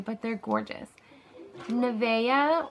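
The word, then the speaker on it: Navya: Nevea, or yeah, Nevea, worthy of praise, but it's spelled N-A-V-Y-A.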